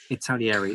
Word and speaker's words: Italeri: the pronunciation here, but are called Italeri or Italeri. Italieri. Thank you. There you go.